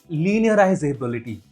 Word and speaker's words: linearizabilidade: de consistência é a linearizabilidade. Nossa, essa palavra em si é um enigma para mim. Sempre que tento pronunciá-la, sai "linear". Então, enfim, deixe-me pronunciá-la bem devagar. Linearizabilidade. É assim que se pronuncia.